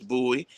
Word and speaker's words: Bowie: Bowie Maryland he said how you pronounce it I said it's buoy I said so when